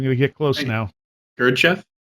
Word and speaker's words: Gurdjieff: Gurdjieff? Thank you. Sounds like handkerchief.